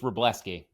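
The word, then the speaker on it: Wrobleski: I think it's Robleski. Robleski, Game 3 starter in the playoffs. That's silent W.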